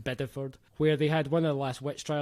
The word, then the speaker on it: Bideford: the county seat of a town which he pronounces as bideford it's named after the english town which by the way is pronounced biddeford where they had one of the last witch